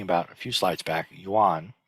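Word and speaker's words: 願: Okay, and so this character, along with the one that I was just talking about a few slides back, Yuan, which in Korean, Sino-Korean, is pronounced won.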